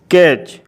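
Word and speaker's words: catch: rules यह है कि जब किसी शब्द में टी के बाद सी एच होता है तब टी साइलेंट रहता है जैसे सी eighty C एच कैच बी ए टी सी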